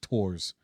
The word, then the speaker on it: Thorfinn: And so, the whole point is actually following Thorfinn, which is Thor's son. Thor's with an apostrophe. Yeah. So it's weird because also it's Japanese, so it's Tor's.